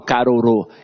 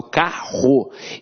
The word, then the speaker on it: carro: Eu não falo carorô, eu falo carro. Então, esses dois R's aqui têm um som de R forte.